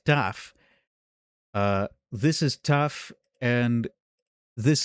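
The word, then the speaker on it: תו: taf, but that's also the name of the letter tau in modern Hebrew. It's pronounced taf.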